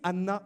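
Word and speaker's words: ענה: En hébreu également, le verbe répondre se dit Anna également. Ça ne s'écrit pas de la même manière, mais ça sonne de la même manière. Il n'y a pas de H avant.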